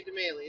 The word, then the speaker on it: deMaille: Is that how you say it right, DeMaye? DeMaye. DeMaye. Well, I like to say DeMaye. It's French. DeMaye. Right. That doesn't sound French. DeMaye. Well, DeMaye is French.